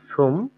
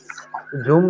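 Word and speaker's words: zum: জি এক্সাম্পলকে হচ্ছে আমরা ডয়েচে বলে সুম বাইসপিল, হ্যাঁ সুম 22 বাইস ফিল, জুম না সুম, সেট না, সোম জি সুম বাইস।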